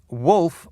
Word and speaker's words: wolf: Bernie says if you're a Brummy, wolf rhymes with golf.